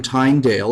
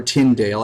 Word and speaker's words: Tyndale: But he did it, and he actually encouraged his followers, and John Wycliffe, along with William Tyndale, or Tyndale, I've heard it pronounced both ways, sent out lay preachers that were called followers of, or speakers of Lolly.